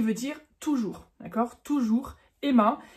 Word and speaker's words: immer: toujours d'accord toujours Emma et tu remarques dans ma prononciation comme j'exlique souvent dans mes vidéos le er en fin de mot sonne presque comme un a donc on ne dit pas il Meur ça ça ferait très français c'est ça qui caractérise